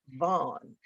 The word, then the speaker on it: VON: And in October 2020, she oversaw the launch of Midway Broadcasting's new OTT digital streaming platform, VON TV, pronounced Vaughn, which can be seen in more than 100 million households on Roku, Apple TV Plus, Amazon Prime, and at VON.TV.